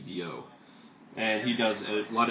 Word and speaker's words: Billout: It's spelled like Guy. It's spelled Guy Billout, but it's pronounced Guy Biot.